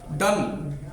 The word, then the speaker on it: done: Silent जाएगा। डन, DONE, डन।